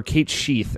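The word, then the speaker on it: Cait Sith: How did you feel about Kate Sith? Or Kate Sheath, as it is sometimes pronounced.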